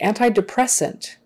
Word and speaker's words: antidepressant: so antibiotics let's see antidepressant antidepressant again another long word where the stress is on the second to the last syllable antidepressants antidepressants and you